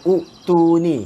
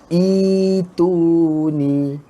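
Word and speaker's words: اؤتوني: Kita tak baca utuni, kita baca ituni. Ituni.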